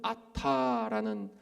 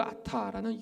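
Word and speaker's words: אתה: 첫 번째로는 히브리어로는 아타라는 발음의 단어인데요.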